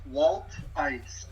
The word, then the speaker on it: Wolthuis: How do you pronounce that? It's Wolthuis.